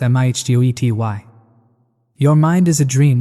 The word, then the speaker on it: mitote: Your whole mind is a fog which the Toltecs called a mitote, pronounced mihtgoety.